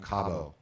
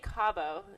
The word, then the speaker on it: Cabeau: I say Cabeau. Is that right? That's How's right. it in French? Is that... Yeah, it's essentially the Cabeau? same. Cabeau. Something? Cabeau. Yeah, Yes. okay. I'll try to pronounce it correctly from here on out.